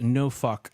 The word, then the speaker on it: Norfolk: Joshua says it is pronounced no fuck. I am not Asian, if that is the correct way you're supposed to say that. Norfolk.